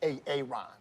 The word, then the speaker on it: Aaron: Why didn't you say it the first time I said Aaron? Because it's pronounced Aaron.